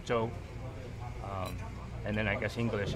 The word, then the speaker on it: zhou: If we're Chinese, I say jook. Jook's the Cantonese pronunciation. Mandarin is zhou.